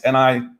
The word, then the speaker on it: Nizialek: It's Nizialek.